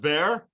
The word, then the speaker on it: Bexar: there- When you say Bexar, B-E-X-A-R, it's actually there, the X is silent. It's just Bear?